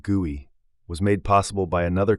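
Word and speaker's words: GUI: This graphical user interface or guey, pronounced guey, was made possible by another concept pioneered at Xerox Park, bit mapping.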